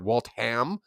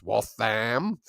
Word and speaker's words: Waltham: I've been saying her name wrong for the last year and a bit because I said Waltham and it's Waltham. It's very English, apparently.